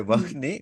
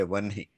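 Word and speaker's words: वह्नि: We don't say Vahni, we say Vanhi.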